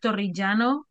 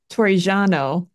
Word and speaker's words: Torrigiano: So Torrigiano, that's the best I can do with his name. That was pretty good. Thanks, thanks. Okay, You just have so to roll your R's a little bit more.